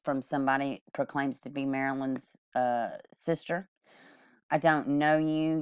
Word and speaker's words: Marilane: I believe that's how you pronounce her name, Marilane. That's how the reporter was pronouncing it.